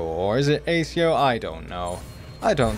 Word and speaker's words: accio: it it's not like I'll be the one pronouncing it for the rest of the game oh it's accio there we go then I nailed it that